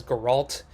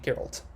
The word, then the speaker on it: Geralt: magic by the way last time i kept mispronouncing geralt as guerralt so i got good this time and i'm gonna keep pronouncing it geralt so if you watched